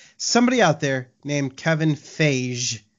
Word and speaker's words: Feige: kicked off the internet is it really Kevin Fahey fie he it's not face like no no no come on man what is this I